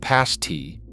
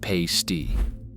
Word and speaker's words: pasty: Pronounced pasty, not pay-sty.